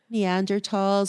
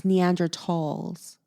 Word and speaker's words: Neanderthals: Homo sapiens but I don't know anything about neanderthals or the de ocean I thought it was Neanderthals no no no it's been mispronounced for years it's neandra talls at least that's how um Hank Green pronounces